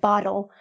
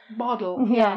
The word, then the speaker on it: bottle: It's the T. You can hear the T. The Americans don't pronounce the T, so I'll just pronounce battle and bottle.